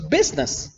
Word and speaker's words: business: also don't pronounce it the letter I for example when you bronze business it's right in the middle but you don't pronounce or when a man